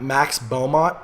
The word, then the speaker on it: Max Beaumont: His name is Max Beaumont.